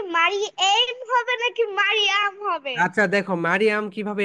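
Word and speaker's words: Maria: এটা হচ্ছে spelling, and pronunciation হবে মারিয়া। এম, এই, আর, মা, এম এ মা, বলো এম এ মা। স্পেলিং আলাদা, প্রোনাউন্সিয়েশন আলাদা, ওকে, বলো এম এ মা, আর আই এই, মারিয়া, মারিয়া।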